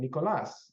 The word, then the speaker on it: Nicolás: interviews um you know I've begun to pronounce my name Nicolas for the past few years because I like the